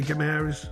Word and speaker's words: Guimarães: He was asked whether Bruno Guimarães, how do you say Guimarães? Yeah, Guimarães.